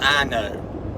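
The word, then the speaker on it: Ino: This little place in between Enterprise, Alabama and Opp, Alabama, there's a little community called I-Know. I-N-O, that's how it's spelled.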